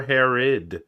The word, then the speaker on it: Herod: It is sure Herod. Herod. You know, like the king, baby. Like the king. Well, actually, I think it's spelled differently, but yes, pronounced the same.